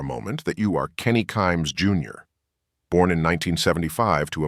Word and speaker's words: Kimes: picture said in part kimes rhymes with climes the competing Washington Post